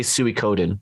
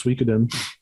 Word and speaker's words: Suikoden: Or do you say Suikoden? How do you pronounce that? I thought it was Suikoden.